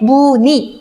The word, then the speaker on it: 무늬: 그럼 무의가 아니고 니은이 자음이 왔기 때문에 무니, 이로 발음하는 게 맞다는 거죠.